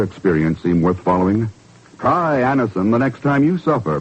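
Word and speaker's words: Anacin: You who have received Anison this way know the effective, incredibly fast relief these tablets bring.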